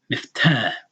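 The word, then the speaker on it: مفتاح: So you know that this syllable, this letter before it, is pronouncing a fatah with the long, elongated. Miftah, okay, like that.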